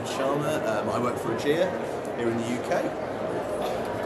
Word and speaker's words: Ergéa: Lots of people pronounce it, but I think it is a it's actually a madeup name, made up word from from two Greek words that have been spliced together. So yeah, so enabling enabling healthcare. So yeah, so I think AIA is the way that I pronounce it.